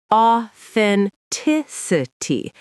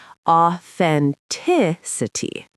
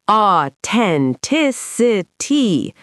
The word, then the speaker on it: authenticity: The th is right there in the middle, and the stress falls on the third syllable, authenticity. Give us the wrong version, Rachel. Exaggerating. Authenticity. No th, wrong stress, all the syllables blurred together.